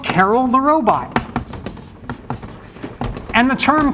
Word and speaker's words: Karel: named after Carol and some people say Carl which is kind of actually closer do I believe if